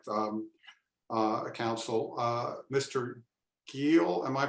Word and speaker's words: Giel: that's all right um uh Council uh Mr Gil am I pronouncing your name correctly you have 20 minutes